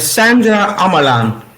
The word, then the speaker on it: Sandra Ammerlaan: how do you say your name again H Sandra amalan okay so Sandra sorry like my screen makes